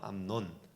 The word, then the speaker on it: 암논: 암놈이라고 해야 되나? 논이에요. 암논.